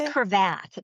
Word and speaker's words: Cravath: And you trained early at Cravath. Is that how you pronounce it? It's Cravath.